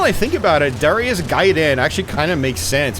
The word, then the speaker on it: Gaiden: So, man, I'm going on a tangent here, but yeah, that is Ninja Gaiden, guys, or Gaiden, if you want to say it like a 1989 kid.